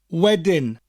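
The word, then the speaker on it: wedyn: now another word is weding wedding which sounds like the english word wedding as in a wedding that we celebrate with the bride and groom but it's spelt differently w-e-d-y-n wedding and it means later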